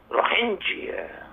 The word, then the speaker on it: Rohingya: ایک اس کی pronunciation American یہ بھی ہے روہنگیا. روہنگیا.